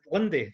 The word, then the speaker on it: Linde: Is it Linde? That's how you pronounce it, right?